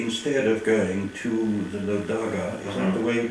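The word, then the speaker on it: LoDagaa: How would your work have changed if, say, instead of going to the Lodaga, is that the way you pronounce it? Yes, Lodaga, yes.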